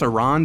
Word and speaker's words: Aran: Call me an ignorant American if you want, but I think Samus Iran sounds like a cool alien bounty hunter and Samus Aaron sounds like a NASCAR driver.